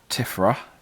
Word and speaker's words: Tifra: So then you've got Tifra, because don't pronounce the T here, Tifra, which is heart and of beauty.